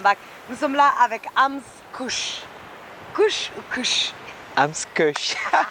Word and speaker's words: AMZ Kush: Donc c'est Ams Kush. Non, c'est Ams Kush. Ams Kush. Yeah, Kush. Tu peux prononcer Kush?